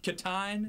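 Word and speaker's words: Kitaen: Is that how do you pronounce that? Katine?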